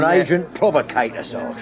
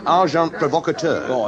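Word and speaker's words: agent provocateur: send in uh oh well probably you wouldn't know the term and agent provocator amazing packer the pronunciation however is arjant provocator it don't matter how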